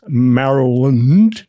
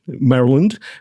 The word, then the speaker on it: Maryland: know, I thought it's about time I start pronouncing it correctly, which is Maryland. Maryland.